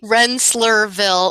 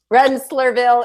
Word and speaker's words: Rensselaerville: I have no idea how to say this, Rensselaerville. Pretty good. Yeah, how do you say it, Wendy? Rensselaerville Institute. Rensselaerville Institute.